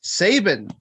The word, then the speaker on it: Sabin: Honor title against Chris Sabin. Rhymes with Satan.